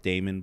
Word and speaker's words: Daymond: I'm The Shark Daymond, but my name is spelled like Raymond, but with a D.